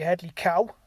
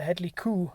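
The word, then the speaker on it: Hedley Kow: with his story but apparently I pronounced Cowell wrong it is cool now I had heard that I just thought it was northern dialect but yeah it's the Headlee cool not the Headlee cow it's Pelt were there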